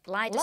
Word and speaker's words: Lyda: She's often incorrectly called Lydia, isn't she? Yes. But her name is... Lyda. Lyda Southard. With a D.